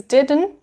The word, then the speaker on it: didn't: of did not is didn't and normally this t sound is pronounced as a stop d so you put your tongue to pronounce this t sound but you don't release it so didn't didn't i